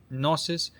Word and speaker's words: Gnosis: Another word for it is Gnosis. G N O S I S. Nosis. The G is silent.